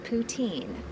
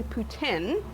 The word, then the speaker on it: poutine: but what exactly is poutin it's actually Putin oh I've been pronouncing it wrong I'm sorry um and